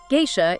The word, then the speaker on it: Geisha: Geisha is G-A-Y-sha, Maiko, that's M-Y-koh.